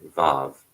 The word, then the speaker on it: vav: to indicate accented syllables W is used for the letter VAV pronounces V in modern Hebrew but as a w in biblical times especially to distinguish it